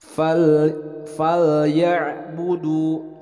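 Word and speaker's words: فَلْيَعْبُدُوا: fal ya'budu. Nah, diperhatikan lam sukun itu jangan sampai ada pantulan seperti huruf qalqalah. Jangan sampai bacanya fal. Nah, ini adalah bukan huruf qalqalah. Jadi dibacanya jelas.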